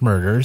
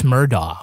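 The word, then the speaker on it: Murdaugh: documentary series Murdoch murders a southern Scandal Nice pronunciation Kevin well I did listen to the podcast called Murdoch murder God bless you Mandy yeah we all got like admonished for calling the guy Alex murdah when it's Alec murd but to be fair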